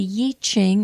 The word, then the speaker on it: I Ching: some of you have heard it pronounced Yi, like Y-I or Y-E-E, Ching, C-H-I-N-G, and it has to do with changes. So the Yi Ching or the I Ching is what is called the Book of Changes.